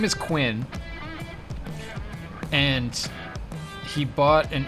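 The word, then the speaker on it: Cuin: and a tree but his name is quinn and it's spelled c-u-i-n so i had to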